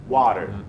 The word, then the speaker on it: water: القيوم في الامريكان اكسنت لما بنلاقي حرف التي جاي ما بين صوتين متحركين زي الاي والاي والاي والاو واليو بنقول water water بنطقها زي الر في العربي او دي سريعه قوي تبقى water water او water الاثنين صح حسين الكلمه اللي جايه